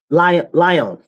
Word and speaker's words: Lyon: And this happened in Lyon.